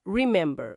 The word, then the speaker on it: remember: A tônica tá na segunda sílaba. Remember.